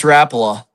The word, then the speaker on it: Rapala: Yeah, we got a Rapala, okay. Yeah. Okay, Rapala or Rapala? It's Rapala.